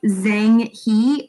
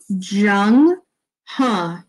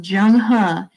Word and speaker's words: Zheng He: It looks like Zhang He, but if we look deeper into the text right here, I'm actually going to mark on this. It's pronounced Zheng He.